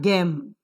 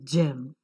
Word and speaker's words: gem: GEM, look here, it is not gem, it is gem. J.